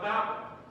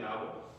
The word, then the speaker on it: Babel: I'm saying Babel. Some people say Babel, others say Babel. Babel rhyming with table, or Babel rhyming with gavel.